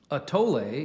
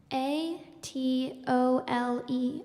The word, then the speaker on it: atole: or that is drunk as a thin gruel a tolay is still a common drink in Mexico and is mainly served with sweet flavorings such as fruit vanilla and chocolate a t o l e atole that is correct yeah the way the